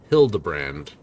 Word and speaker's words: Hildibrand: I've searched every alley dive bar I ever keep for signs of this filigrand kill character pronounced Hildbrand.